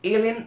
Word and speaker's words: ln: যে এল এন লিখলাম এটাকে কিন্তু লন বলা হয় না এটা লন উচ্চারণ না ওর উচ্চারণ হচ্ছে এল এন x logarithm natural x লন